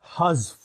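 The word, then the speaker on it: حذف: So when you pronounce, first is haz, and then immediately join fa with it.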